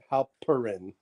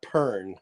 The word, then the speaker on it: Halperin: Halperin, not Pern, like I've been saying.